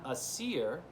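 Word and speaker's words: Æsir: group of God and a Seer sounds kind of like Aries it's spelled a-e-s-i-r the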